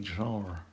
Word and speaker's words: genre: And yes, I'd say genre with the real French pronunciation, because this is who I am.